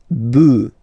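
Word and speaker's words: bœufs: just add this s but then pronunciation changes quite much because you get de boo de boo all right buff all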